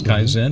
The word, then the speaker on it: Kaizen: Anthony Hanks and car Kaizen two syllables Kaizen martial arts academy and